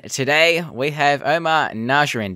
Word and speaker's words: Najjarine: we have Omar and Nasser in did I say it right yes you did sir fantastic yes good